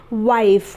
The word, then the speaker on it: wife: आखिर में इसलिए इसका इस्तेमाल नहीं होगा, ये साइलेंट रहेगा। तो ये बन जाएगा वाइफ, वो पे आ की मात्रा, छोटी ई और फ, वाइफ, वाइफ यानी पत्नी।